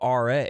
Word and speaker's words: Aryeh: Yeah, REA. How do you spell that? ARYEH. Okay. We have a RA.